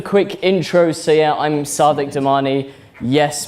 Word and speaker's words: Sadiq Damani: intro so yeah I'm Sadiq domani yes my name is the same as the Mayor of London yes I pronounced it differently and yes it was